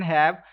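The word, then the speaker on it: ح: So next letter is ha, and ha doesn't have mud on it, so I will stretch equal to 1 second. And ha, this ha is pronounced from middle part of your throat, and make sure like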